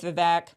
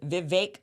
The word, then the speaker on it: Vivek: enjoyed the conversation with vivec a Vivek sorry he taught me how to say his name properly so if you want to know it is Vivek like cake Vivek ramaswamy so a great